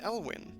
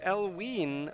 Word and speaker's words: Elwyn: that you know ellewood i'll pronounce it elwyn simple geez oh thanks only i've been pronouncing as elween all this time yeah martic that's me no you haven't mark you big dope you've been selling it saying it halloween like it's supposed to be if you're trying to